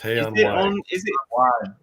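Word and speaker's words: Hay-on-Wye: actually and Wales and he says Hey on why pronounced he on why yeah is in Wales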